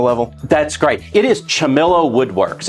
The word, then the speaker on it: Ciamillo: hobby to professional level that's great it is chamilo Woodworks it's spelled c i a m i l l o Woodworks that's your last name l chamello so L when did you start this did